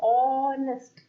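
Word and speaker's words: honest: पढ़ूंगी तो क्या बोलूंगी, ऑनेस्ट, ओ का साउंड है, एच यहाँ पे क्या है, साइलेंट है, यहाँ पे ओ का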